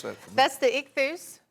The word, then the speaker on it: ichthus: And it's got the, pronounce that for me. That's the ichthus. Ichthus.